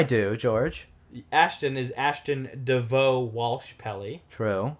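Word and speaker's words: Devaux: Ashton is Ashton DeVoe Walsh Pelly. True. DeVoe with an X on the end, which is cool. And friggin' a slew of vowels that are not pronounced also in the middle.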